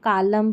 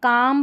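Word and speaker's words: calm: अब इसको कालम, पालम, बालम या यहाँ पर सालम करके नहीं पढ़ेंगे। ये जो PS है ना इसमें P भी साइलेंट है, ठीक है। तो इसको काम, पाम, बाम पढ़ेंगे, और इसमें P भी साइलेंट है और L भी साइलेंट है, इसको साम पढ़ेंगे।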